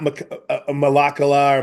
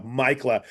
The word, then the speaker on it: Maikkula: Maikkula. Maikkula. Not Malakala or Makala. No, Maikkula.